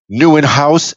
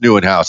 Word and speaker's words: Nieuwenhuis: Oh, good, because it's definitely not pronounced Nieuwenhuis, and those that look at the show notes will definitely see the way it's spelled and go, "Oh, okay, yeah, I guess that looks different." I guess that is Dutch.